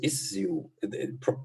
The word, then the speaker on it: issue: prize very famous physicist he says is you possibly this is the british english pronunciation i i never heard it before most people say issue i don't know okay